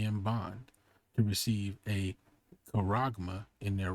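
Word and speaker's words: χάραγμα: and poor, free and bond, to receive a charagma in their right hand or in their foreheads. Now, the reason I said charagma right here is because that's what that actually says when you go into the Greek.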